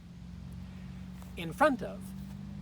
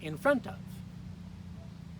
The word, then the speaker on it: in front of: In front of. Again, second syllable. Please repeat after me. In front of.